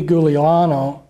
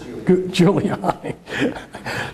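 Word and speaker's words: Giuliani: involved in all this Rudy guliano I'm not pronouncing the name I didn't pronounce I just juliani there you go he was the mayor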